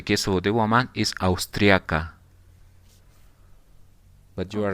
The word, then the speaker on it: austriaca: In the case of the man is austriaco, austriaco, and in the case of the woman is austriaca. But you are right. Just the pronunciation is a little bit different.